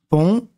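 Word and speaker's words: pont: regarder trois lettres un pon le T ne se lit pas à la fin un re on Ron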